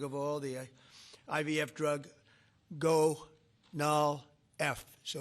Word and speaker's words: Gonal-F: most popular drug of all, the IVF drug Gonal-F. So it's Gonal-F. Is that a proper pronunciation?